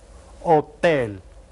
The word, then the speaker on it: hotel: Only you don't pronounce the first letter of this word. Hotel un hotel.